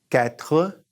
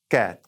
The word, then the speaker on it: quatre: Now, I've heard people say for quatre, and I've heard people say quatre, kind of dropping off the RE.